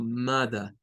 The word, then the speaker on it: mother: Nótese que no está la letra R. Solo está esta que suena a schwa. Uh. Es algo como mother, mother.